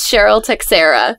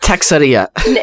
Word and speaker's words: Texiera: I literally joined Periscope like a few hours ago, and the name is Cheryl Texiera. Awesome. So, not Texeria. No, but I mean, if that helps you spell it, that's fine.